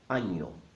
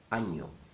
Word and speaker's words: año: Año. Año. Año means year, and the letter in the middle is not an N. It's called ñ, and makes that sound ña, ña, ña.